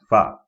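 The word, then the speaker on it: ف: Next is fa, fa, pronounced using the inside of the lower lip and the tips of the two top front incisors now, like so.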